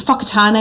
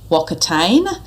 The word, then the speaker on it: Whakatane: often referred to as Wakatane. So the key mistake here is that Māori use the WH is pronounced actually as an F sound.